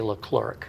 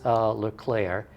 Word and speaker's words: Leclerc: Now people look at that name and if they don't know how to pronounce it correctly, they say Leclerc. Leclerc. But it is Leclerc.